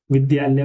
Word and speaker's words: विद्यालय: इसमें आधा द होता है आपका और पूरा य होता है। इससे मिलकर के बना होता है। तो इसका उच्चारण हमें द करना होता है। क्या बोलते हैं? विद्यालय उद्यान इसी प्रकार से